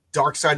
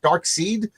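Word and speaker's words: Darkseid: How do you pronounce it? Is it dark seed or is it dark side or is it dark she? You know I've always heard it as dark side.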